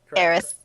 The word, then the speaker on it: Eris: Eris. Ugh. Ares is the male god. Eris is the female one.